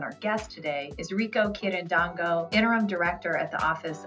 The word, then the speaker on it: Quirindongo: And his last name, in case you were wondering, Rico spelled like Rico, R-I-C-O, and Quirindongo, Quirindongo. And if you haven't already,